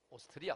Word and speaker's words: 오스트리아: 유럽의 오스트리아 나라 있지요 발음을 잘 해야 됩니다 2 저 남자에요 호주는 오스트레일리아 고 유럽은 뭐라고요 오스트리아 그냥 오스트리아 모짜르트의 고향 오스트리아 연구소에서